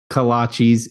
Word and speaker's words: kolache: little coffee shop it's kolaches coffee shop in Centerburg and an individual kolaches is called a kolache just one kolache plural kolaches not colon cheese sorry about that Robert